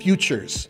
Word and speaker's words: Futures: Now, Nissan's Future Showcase, Futures, I should say it right. It's really hard to say. Nissan Futures, there you go. That's how you say it.